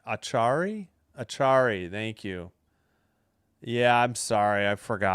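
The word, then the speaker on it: Acciari: Achiary? Achari? Achari, thank you.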